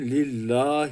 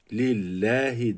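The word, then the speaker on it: لله: heyye bağlıyoruz hem lillahi dikkat edin lill demedim lillahi dedim e sesi ile okudum Çünkü Allah isminden önceki harf esreli olursa Allah ismi e sesi ile okunur üstünlü ve ötreli olursa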